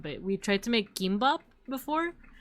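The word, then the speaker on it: gimbap: Beans tried to make gimbop or how do you pronounce it? It's like gim. It's like between a K and a G sound, but we tried to make gimbop before.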